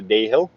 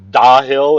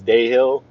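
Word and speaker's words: Dahill: going to continue on i'm going to go to day hill or i've heard pronounced da hill it is not da hill it is day hill just like it's not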